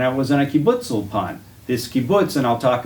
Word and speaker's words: Ulpan: Ulpan in Hebrews gets tricky because they usually accent the last syllable.